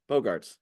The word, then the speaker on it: Bogarts: away from the correct Bogarts it's the easy pronunciation not the weird pronunciation yeah it looks like